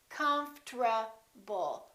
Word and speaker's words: comfortable: how to do it we don't say confortable this is what happens the o disappears but then there's one more very strange thing that happens and that's the rt becomes a tr they change positions listen comfortable comfort comfortable i'm very comfortable most americans pronounce it